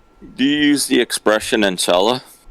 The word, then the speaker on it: inshallah: Yes, inshallah. Do you say that all the time? Yeah. So you say enchilada. No, inshallah. Inshallah.